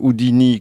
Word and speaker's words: Houdini: Harry Houdini, les clés de la magie aux éditions Jungle, prononcé à l'anglaise.